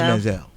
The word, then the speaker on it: Manziel: It's pronounced Manziel.